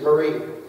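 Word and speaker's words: מרי: Bible is from is formed from the word m r i y which is Marine if you want to the technical pronunciation is Marie it means to be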